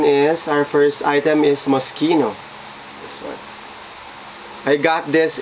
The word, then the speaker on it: Moschino: They pronounce this as Moschino, hindi Tomochino. Baka pagtawanan tayo, mga box, pag tinawag na Moschino to.